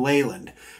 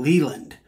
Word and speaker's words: Leyland: Leyland or Leland well the correct way as I understand it is Jim Leyland but uh the midwestern pronunciation is Jim Leland uh so when he